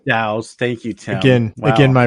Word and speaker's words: DAOs: defi or daos or I believe they're pronounced dows dows thank you again again